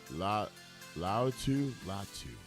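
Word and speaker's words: Laiatu Latu: going to last in the league number four La Lau latu that's how you pronounce the name 65 259 Edge rusher he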